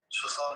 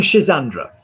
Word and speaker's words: ce genre: No, you're saying Shazandra. Saying ce genre.